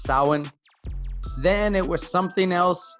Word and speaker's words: Samhain: According to the video, it started in a day called Samhain. It's pronounced Samhain.